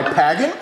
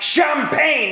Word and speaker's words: champagne: while you pour my pagging. Take the glass from me, Chives! Sorry, sir. We need to get your brain skinned, you old fuck! Well, you know it's pronounced champagne and not pagging.